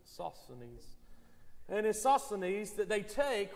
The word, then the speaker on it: Sosthenes: it's uh suspended sosthenes that's the way the esv bible app pronounces it sosanese and isoscenes that they